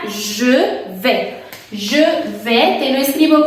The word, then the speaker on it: je vais: Je vais significa yo voy y se pronuncia je vais. Je vais, te lo escribo como siempre, más o menos como sh, aunque no es sh, es j.